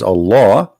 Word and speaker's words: Allah: The first one pronounced as Allah.